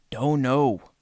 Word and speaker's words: dono: Don know the dog d the dog dono. Not spelled like d o n o is d like as bread dough because it goes into